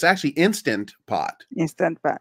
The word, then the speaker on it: Instant Pot: I call it Instapot, but it's actually Instant Pot. Instant Pot. But when you say fast, you just lose the sound.